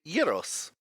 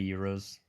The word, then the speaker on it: gyros: All right, and so you're presented with pretty well made gyros. Nice. I hate when people pronounce it gyro. I know. Yes. I always say euros.